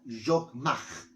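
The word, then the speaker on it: חכמה: donde dice que en hebreo es la palabra yogmaj.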